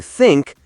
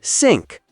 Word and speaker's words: think: So instead of saying think, they say sink or this becomes this. It totally changes the word and sometimes the sentence doesn't make sense anymore.